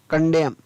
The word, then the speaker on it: condemn: ही, और M का म, N है वो silent, him. SOLEMN सोलम, CONDEMN कंडेम, तो यहाँ पर भी N है वो साइलेंट, तो यहाँ पर भी इसको पढ़ेंगे कॉलम, क्या पढ़ेंगे?